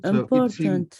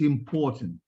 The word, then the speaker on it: important: important yeah very good important it's important okay now for British people they do not pronounce the r okay they would say it's important um American English they